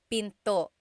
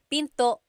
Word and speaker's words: pinto: Door in Tagalog is pinto pinto. And remember, don't forget the glottle stop. Don't forget to stop the sound at the end. That's called a glottle stop. Pinto.